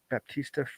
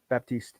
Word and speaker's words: Baptiste: But the thing is that, and it was posted by our friend whose name I always forget how to pronounce, Baptista Frisk. Oh, Baptiste, thank you.